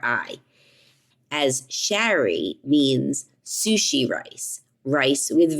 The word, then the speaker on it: Shari: a r i as Sherry means sushi rice rice with vinegar now I pronounced my name Sherry but it is s h a r i so I was on